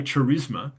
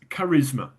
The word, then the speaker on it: charisma: But if you add an ma to it, we don't say charisma, it's charisma. The h is silent.